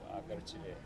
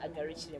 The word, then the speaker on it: Agarukire: pronounced it Agarukire. Yes, Okay. yes, you have, and I'm not surprised. Okay. My name is Agarukire, and I'm happy to be back here on Family TV.